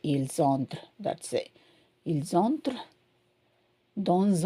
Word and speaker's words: ils entrent: So remember, there is no pronunciation for these ENT. You just say ils entrent.